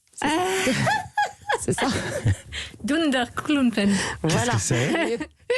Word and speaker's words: Dunderklumpen: du dessin animé suédois, je vais bien le prononcer, Durdenkulpen. C'est ça. Dunderklumpen.